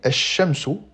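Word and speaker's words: الشمس: Dans le mot soleil, shamsou, l'article défini alif lam ne se lit pas. On supprime la prononciation du L pour venir après le alif directement sur la première lettre du mot à laquelle on va ajouter une shaedda. Et je rappelle qu'en arabe la shaedda correspond à un doublement de la lettre.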